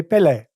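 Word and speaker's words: Pelé: I say Pele, you say Pele.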